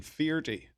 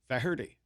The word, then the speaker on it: Feherty: the only two um they couldn't even agree on how to pronounce my name I mean FY was the way it was pronounced in Ireland uh you know but my uncle jack you know pronounced it fery which is much more fonetic well what do you